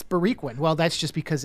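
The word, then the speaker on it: Boriquen: hear that you hear and they spell it b-o-r-i-q-u-e-n i think and so that's confusing for people when they come to williamsburg brooklyn because they're like okay go down grand wait it's bariquin well that's just because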